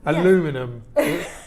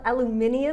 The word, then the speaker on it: aluminium: The Brits pronounce it differently than the Yanks. Right, as we do with most things. Aluminum. You tomato. Mean aluminium?